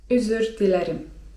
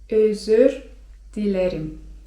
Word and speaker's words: özür dilerim: To jest tutaj dobre slówko: özür dilerim (czyt. özür dilerim) özür dilerim (czyt.